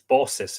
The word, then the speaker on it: Baucis: rings philemon and bosses no i think it's b-a-u-c-i-s it's boss's isn't it yes it is i'm pretty